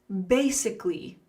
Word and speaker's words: basically: Basically, let's look at the top of the slide for the pronunciation. Basicly, basically basically basically use one.